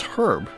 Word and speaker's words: herb: I mean, there's an H. It's herb. What seems to be the problem with reading English the way it's spelled?